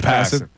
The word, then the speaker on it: Passan: Is that how you pronounce his last name, Passan? I don't know. Is it Passan? Passan. It's Passan.